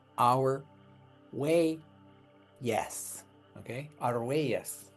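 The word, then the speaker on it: Argüelles: You can call him that because that's a really bad pronunciation. His name is Our Way.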